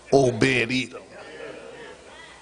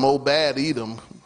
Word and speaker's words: Obed-Edom: Obed-Edom. If you don't be careful, you'll mispronounce it. Obed-Edom. But even if you call them Obad Edom, God is going to be at his house.